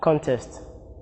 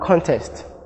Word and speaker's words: contest: Examples are contest, present, mandate, and record. Their verb form carries their stress on the second syllable, and note that the